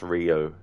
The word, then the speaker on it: Rio: stream uh it's pronounced Rio like Neo but replace the N with an R yeah that's the funny thing cuz um I I used to always say uh Rio but then in this